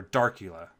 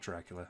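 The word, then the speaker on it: Darcula: under the theme drop-down check Dracula or dark EULA not Dracula I always pronounce - Dracula my mind but it's dark EULA anyway I'll go ahead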